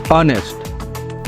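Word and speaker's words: honest: तो एक कंसोनेंट है लेकिन इसको प्रोनाउंस करेंगे ऑनेस्ट एच यहां पे साइलेंट है तो इसलिए यहां पे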